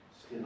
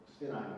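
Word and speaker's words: SFINAE: So this is it's called STINI, I think is the correct pronunciation.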